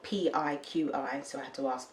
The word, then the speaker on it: PIQi: So this kefir water is by a company called PIQi, spelled P-I-Q-I, so I had to ask them how to pronounce it.